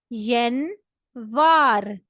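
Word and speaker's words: январь: जनवरी को Russian language में कहते हैं यन वार।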